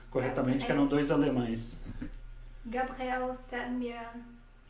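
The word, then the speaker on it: Gabriel Sedlmayr: Dois desses cientistas eram o Gabriel e o Anton, que a Luciana vai pronunciar o nome deles corretamente, que eram dois alemães. Gabriel Semir Anton Dreyer.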